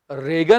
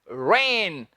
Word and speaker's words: reign: इसका उच्चारण है स्टूडेंट्स रेन, रेगन नहीं, रेन। बारिश की बात नहीं कर रहे, ये है रेन।